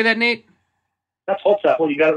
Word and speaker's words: Holzapfel: His name is Nate Holzapfel. How do you say that, Nate? That's Holzapfel.